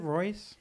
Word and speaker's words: Rois: Is it Royce?